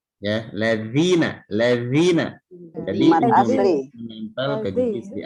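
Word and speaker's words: الذين: Halus mengucapkan ujung lidah kita menempel ke gigi di atas. Ya, ladzina.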